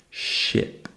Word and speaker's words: ship: Next, we have chip with a ch sound and a short I sound. Chip. Next, we have ship with a sh sound and a short I sound. Ship.